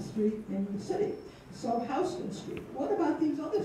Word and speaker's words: Houston: of the village is Houston Street. And Houston Street right there, and we do pronounce it correctly because it's not named for Sam Houston. It's named for a guy from Georgia named William Houston.